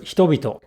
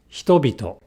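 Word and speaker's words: 人々: Likewise, in the word hitobito, the initial E is not voiced, but the second E is voiced because it follows a voiced consonant, B, B, hitobito.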